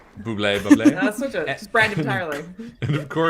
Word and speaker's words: Bublé: Bubbly is I'm gonna pronounce his name as Bubbly. Bublé.